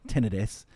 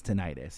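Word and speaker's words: tinnitus: because I have um I'm going to give the medical pronunciation, tenidis. Um the regular human being one is tonitis. Yes. Um but the medical pronunciation is tenidis.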